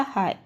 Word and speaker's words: high: तो हाई में से जी जो है वो साइलेंट होता है, कभी भी नहीं पढ़ा था। कैसे प्रोनाउंसिएशन किया जाता? हाई।